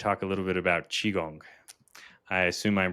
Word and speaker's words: Qigong: Kong or Chong so yeah but the most pronunciation is chiong chiong okay yeah I uh I actually speak